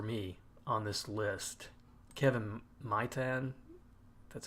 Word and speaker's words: Maitan: Kevin Maitan, that's how you say it.